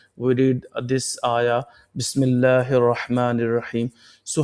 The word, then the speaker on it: بِسْمِ اللهِ: Ba sin zir bis, mim lam zir mil. We are spelling the letter. Mim lam zir. Mim is connecting with the lam. Mim lam zir mil. Lam khadi zabar la. Ha zir hi.